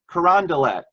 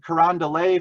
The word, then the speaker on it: Carondelet: Joseph of Carondelet and believe it or not the sisters pronounced it Carondelet I've been saying Quran delay for years but I'm trying to make a conscious effort to change that and do as the sisters say and say the sisters of st.